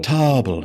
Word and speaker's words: Tobble: Tarble or Tobble? Tobble. It's spelled like table, which isn't a thing I was just looking at. It's Tobble.